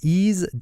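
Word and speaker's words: Eaze: in braces adult use that's easy calm which is spelled e a Z e he's calm good morning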